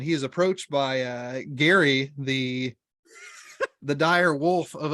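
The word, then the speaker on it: Geri: is approached by uh Gary, the the dire wolf of Odin. Is that not how it's pronounced? I know, I love I love that his name just phonetically is like Gary.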